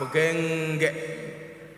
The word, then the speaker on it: begengge: Kalau di Surabaya namanya begengge, membacanya harus pakai ikhfa, begengge.